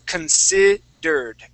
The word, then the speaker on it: considered: okay uh this is considered we wouldn't pronounce that e there okay we go from right from that R to that D sound considered considered there you go okay now